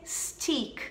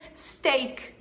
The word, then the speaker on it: steak: Então por que não vai ser stick? Não, gente. Não vai ser. Não, não. Por que não? Steak. Steak. Steak. E não stick.